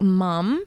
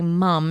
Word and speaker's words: ma'am: call their teachers like mum, but it's spelled ma'am, like M-A-M Oh, I see. or M-A-A-M, but they say mum like as if it's their mum.